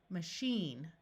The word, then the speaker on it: machine: In this word, the A will schwa and sound like a short U, and the I will have a long E sound, machine, Chevy.